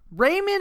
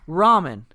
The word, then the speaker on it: ramen: ramen here's the thing everybody calls Raymond is the Blake that's like the white trash way to say it so you know what you get on me about using mine I don't think so pronunciation call me white trash Raymond noodles that is no ramen that's what it is Wow top ramen it's not top Raymond Raymond top Raymond yeah